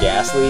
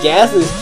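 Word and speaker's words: Gastly: Like, Ghastly, the T is silent. You say, like, gas, and then Lee.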